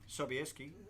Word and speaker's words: Sobieski: I actually thought we'd end up with a honey, but if you reckon honey's next, Is that the way we pronounce it? Sobieski, yes, it is.